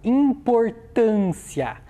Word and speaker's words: importância: Qual é a sílaba mais forte dessa palavra? É a sílaba tan. Eu já consegui identificar isso ao pronunciar. Então o tan. A vogal ali, o A no caso, está mais fechada ou ela está mais aberta? É uma vogal mais fechada, por isso eu utilizo o acento circunflexo.